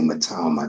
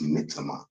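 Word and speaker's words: Mitoma: Um Brighton still have um Mama and um although say they say Matama that's that's not how you pronounce it. It's Mita. Um that's how Japanese people pronounce it.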